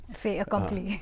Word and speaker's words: fait accompli: How do you pronounce it? Fait accompli. Fait accompli.